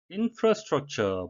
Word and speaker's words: infrastructure: infrastructure, 발음에 유의하셔야 되겠는데요. 우리말로는 인프라에서 발음하라 하기 쉬운데요. 영어식 발음은 어로 하셔가지고 infrastructure가 되겠습니다.